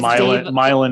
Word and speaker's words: Milan: Milan instead of Milan.